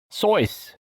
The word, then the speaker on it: Seuss: did you know it's actually pronounced source rhymes with voice i did recently hear